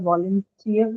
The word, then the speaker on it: volunteer: And in this case as well, where do you think the stress would be? I'm talking about volunteer instead of voluntary. Ma'am, third syllable. Tier. Sorry, just a moment. Third syllable, which is Tier.